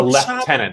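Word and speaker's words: lieutenant: There's a left tenant. That's what the Brits say.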